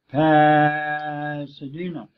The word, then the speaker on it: Pasadena: overemphasize it it is an accent on one syllable and reduce in other parts it's I'm going to say it pad Pasadena you might think I'm pretending but I'm not the word is Pasadena passadena and the same thing in the word